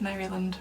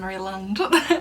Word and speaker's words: Maryland: Festival that took place in Maryland, or Maryland. I always feel like Americans pronounce it Maryland rather than Maryland, at the start of May.